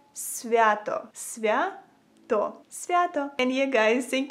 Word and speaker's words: Свято: Свято.